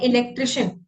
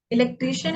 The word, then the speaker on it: इलेक्ट्रिशियन: फिर है इलेक्ट्रिशियन। तो कई बार लोग बोलते हैं इलेक्ट्रीशियन, इलेक्ट्रीशियन एक गलत है, हम इलेक्ट्रीशियन नहीं इलेक्ट्रिशियन बोलते हैं। इलेक्ट्रिशियन सही प्रोनाउंसिएशन।